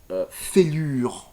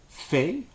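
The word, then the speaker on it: failure: Donc au lieu de dire fêlure, on dit faillieux.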